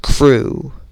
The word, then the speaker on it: Cru: A Sangheili named Crew, C-R-U as it is spelled, a former follower of Prophet X, left Prophet X after the Prophet killed Crew's brother Day, D-E-Y.